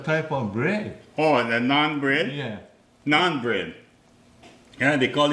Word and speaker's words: naan: Oh, the naan bread? Yeah. Naan bread. Yeah, they call it naan bread. I think, I don't say no more bread, it's naan. Okay.